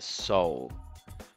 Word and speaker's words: Seoul: la capital de corea en inglés se pronuncia soul y vamos a escuchar